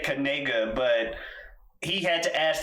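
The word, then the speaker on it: Knigga: already decided it is uh but apparently it's pronounced kega yeah it's not no one's going to pronounce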